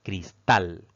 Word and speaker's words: cristal: pues tiene dos sílabas la mayor fuerza de voz al pronunciar esta palabra recae en la última sílaba contando de derecha a izquierda Entonces al caer en